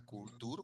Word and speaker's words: culture: Entonces el estudiante ve esto, ve la U y dice cool, cool, y ve la TU y dicen tour, culture, culture. Suena culture, cultura, culture.